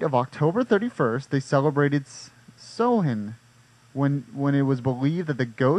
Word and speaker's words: Samhain: Oh, pronounced Samhain. Samhain. It's not even spelled any.